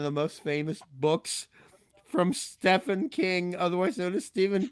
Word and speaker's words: Stephen: I said I know it's Stephen King, and I know he spells it Stephen, but he pronounces it Stephen.